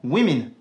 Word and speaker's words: women: Et il se prononcera même I dans Women.